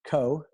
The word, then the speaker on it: Kho: I check out my youtube channel it's Coe my last name is spelled ka Jo and I have a two